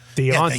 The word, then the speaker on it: Dejounte: We didn't know that I pronounce it with a Y. Deontay.